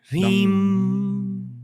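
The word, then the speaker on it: ह्रीं: The last sound has to be like the striking of a bell. Hreem.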